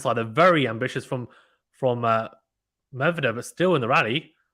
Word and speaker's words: Medvedev: Edgar says Medvedev. Medvedev. Oh, my God. Is that how you pronounce it? That's going to kill me to say it like that. I'll try my best. Medvedev.